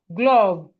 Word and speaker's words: glove: And we have glove glove. The E here is silent.